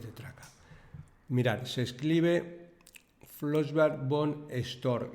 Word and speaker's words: Flossbach von Storch: Mirad, se escribe Flossbach Bond Store y voy a ir deletreando letra a letra porque es impronunciable.